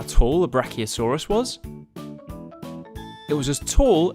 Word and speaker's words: Brachiosaurus: Do you know how tall a Brachiosaurus was?